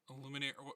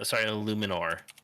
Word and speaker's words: Illuminor: Illuminate. Spell it. It's actually Illuminor.